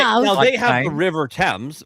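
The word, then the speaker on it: Thames: Now they have the river temps. Ours is the Temps River because we put names before the thing and it's spelled like Fames.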